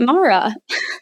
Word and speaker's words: Mora: so we thought well let's spell it Mora like how you see it here like Laura with an m and then let's pronounce it Mara that is not helping